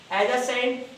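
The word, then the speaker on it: adjacent: His house is एडजेसेंट to mine. Student इसमें D silent होता है, इसकी साउंड नहीं ली जाती, तो इसको एडजेसेंट पढ़ते हैं, आप इसको एडजेसेंट नहीं पढ़ोगे।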